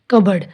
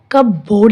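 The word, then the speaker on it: cupboard: कबर्ड, इसको हम कब बोर्ड नहीं बोलेंगे, इसमें पी साइलेंट है।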